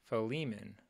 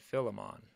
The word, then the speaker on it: Philemon: it up and according to this F fiman fiman that's how you pronounce it fiman I always said fimon fimon okay the the books of First Timothy